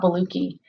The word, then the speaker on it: Boluoke: have certain conditions so I'm talking today about Bellucci and that is in fact how you say